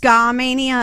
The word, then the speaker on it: Skamania: her Skamania County Stevenson uh Washington okay actually pronounced Skamania and they listen to a lot of less